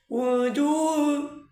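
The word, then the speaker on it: وجوه: আরেকটা কথা বলে দেই দুই পেশ যদি একসাথে আসে দুই হরফের উপরে তাহলে কিভাবে পড়বেন এভাবে উজু উজু উজু দুইটা পেশ আছে সেই জন্য আপনাকে দুইবার ঠোঁট গুল করতে হবে এবং দুইবার ভিতরের দিকে আবার সেটাকে সমান করতে হবে যেমন উজু ইয়াউমাইযিন নাঈমা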